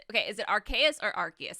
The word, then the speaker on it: Arceus: i was always saying arceus like before they announced this game i thought it was a soft c and then the the